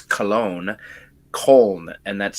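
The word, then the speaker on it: Köln: the Border you're on just depending on if you want to pronounce it the German Way Or Not Germany Germans pronounce cologne col and that's spelled k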